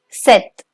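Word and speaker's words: sept: and pay attention that in case of seven the p is silent so it's not set it's set trivia so once again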